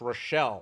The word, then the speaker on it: Rachel: and she goes no it's it's spelled Rachel I'm from the south it's pronounced relle I'm like okay so